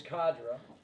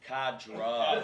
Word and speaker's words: Kadra: Right, so we're going to pronounce it correct. It is Kadra. Kadra.